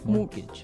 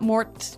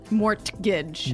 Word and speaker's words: mortgage: with a t yeah it has a t in it but you don't pronounce it you say mortgage morgage so not Mort morgage not mortgage morgage morgage